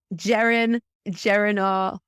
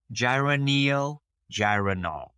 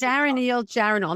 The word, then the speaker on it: geranylgeraniol: And it's so hard for me to pronounce this word, but I want you to talk about geranol. I never pronounce it right.